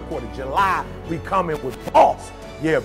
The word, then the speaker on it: BOSC: July, we coming with BOSC. Yeah, B-O-S-C. And you like, E, but you said BOSC. I know, the C is silent, right?